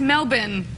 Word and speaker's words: Melbourne: Almost say it right. It's Melbourne.